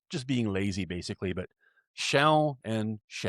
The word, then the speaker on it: się: Now, a quick note on the pronunciation. Again, the proper way is się, like with a nasalized L at the end. But very often when you hear it in speech, it's just she, as opposed to się.